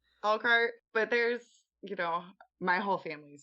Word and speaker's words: Elkhart: Let me say this right. Elkhart, right? That's how you say it. Elkhart, Yes.